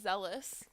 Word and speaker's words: zealous: man um also apparently the word is zealous rhymes with jealous another word on the